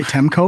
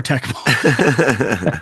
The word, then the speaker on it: Tecmo: Did I say Temco or Tecmo? I think I was channeling how I mispronounced it when I was 10 years old, when I would get Temco Super Bowl.